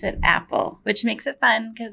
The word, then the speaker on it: APPEL: annoying but a lot of people think it's a pill that it really we pronounce it Apple which makes it fun because there's an apple